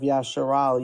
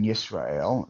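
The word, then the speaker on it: ישראל: So why are you pronouncing it as a shin as opposed to a sin? Why are you pronouncing the sin as a shin? What are you talking about? So underneath the yud in Yisrael, there is a chirik, which implies that the next letter has to be a soft vowel or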